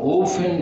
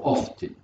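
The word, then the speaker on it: often: تيرباين الناس جايين من امريكا بيقولوا تيرباين، بينطقوا الانجليز بينطقوا اوفن، الثاني بيقولوا اوفتن، بيكتبوا بيقروها زي ما مكتوب.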